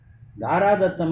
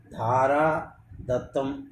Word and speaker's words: ధారాదత్తం: దారాదత్తం అంటే తన భార్యని ఇతరులకు ఇవ్వడం. అది ఎట్లా కుదురుతుంది? కాబట్టి అది ఉచ్చారణ దోషమే, అది తప్పుడు పదబంధమే. ధారా దత్తం అనేదే సరైన ఉపయోగం.